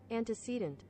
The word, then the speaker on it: antecedent: It is antecedent. Antecedent. I've been saying it wrong the whole time. Antecedent. Oh, shit. Antecedent. The one pronunciation I made fun of, because I was like, that sounds stupid. It was the real one.